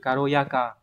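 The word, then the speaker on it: 軽やか: Và cách đọc khó của nó, có thể hỏi ở N2 hoặc N1 đấy, đọc là karo, ví dụ từ karoyaka, có nghĩa là nhẹ nhàng, di chuyển động tác nhẹ nhàng linh hoạt để dùng từ này.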